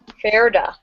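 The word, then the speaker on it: Fjerda: the foreign country of, help me out here, girls, Gerda? Ferda. That's how we're going to pronounce that one.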